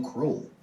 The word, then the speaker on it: Kruel: and it's pronounced cruel you know like the word cruel everyone always wants to